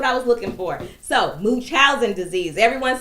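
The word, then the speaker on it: Munchausen: this live until I give you the correct pronunciation of it. Okay. Muchinchousing disease. That's what I was looking for. So, moochowin disease.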